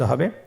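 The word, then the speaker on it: ح: হা হরফটি কিভাবে উচ্চারিত হবে? হা হরফটি উচ্চারিত হবে কণ্ঠনালীর মধ্যখান হতে।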